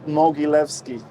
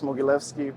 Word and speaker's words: Mogilevski: for the yeah so my name is moguilevsky it's a hard one to pronounce but uh ukulele mogilevsky people uh normally buy those too yeah and